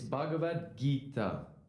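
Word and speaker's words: Bhagavad Gita: that that name right your attempt at pronouncing the Sanskrit language was Noble it's bhagavad-gita why don't you try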